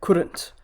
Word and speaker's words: couldn't: to current so yeah couldn't the full version or the expanded version is could not but when you simplify it's couldn't couldn't so you don't pronounce the l at all it's silent it's just couldn't couldn't